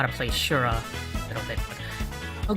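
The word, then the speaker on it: Syura: I know her name is like spelled S-Y-U-R-A, but in Japanese, it's S-H-U is how you would pronounce it, like so. Shura? The way it's spelled, you might pronounce it like Siora, but...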